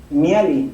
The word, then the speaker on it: Mihály: ¿Cómo se pronuncia? Mihaly.